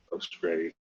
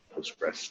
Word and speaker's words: Postgres: But SQLite is the recent addition of Postgre and Postgres, depending on how you decide to pronounce that, MySQL, etc.